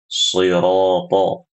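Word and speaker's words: صِرَاطَ: Ya, contohnya ibu-ibu rahimakumullah, ketika membaca shiratal ladzina an'amta 'alaihim, shirata. Jadi ketika membaca huruf shad, bunyinya adalah shirata, seperti itu.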